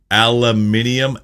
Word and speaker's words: aluminium: change in the spelling they really do skip out on the second I in North America but actually this is